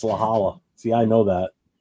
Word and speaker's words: La Jolla: No, it's La Jolla. See, I know that. It's not. It's like El Cajon, It's not.